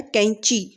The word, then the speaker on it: कैंची: आधा नय का उच्चारण आ रहा है, कैंची।